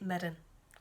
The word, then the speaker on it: Mirren: team which is named after the saint, it's Mirrin. So it's Saint Mirren.